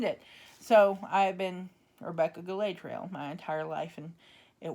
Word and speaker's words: Galadriel: We pronounce it Galadriel. They pronounce it Galadriel in the movies.